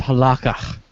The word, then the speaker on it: halakha: It's pronounced halakha. Halakha. Halach.